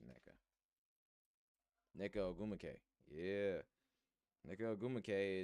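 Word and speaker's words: Nneka: On Yeka. Oh, fuck. I might be pronouncing her name wrong. Neka. There we go. I said on Neka. I'm tripping. It's just Neka.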